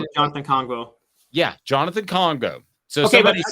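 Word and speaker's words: Kongbo: Am I pronouncing it? Jonathan Congo. Yeah, Jonathan Congo.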